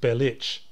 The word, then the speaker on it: Bellic: If he was actually Serbian, it would be pronounced Belich.